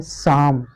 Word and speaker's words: psalm: और एग्जाम्पल आपने देखा होगा, एक होता है साम, PSALM, ठीक है, इसको क्या पढ़ते हैं, साम पढ़ते हैं।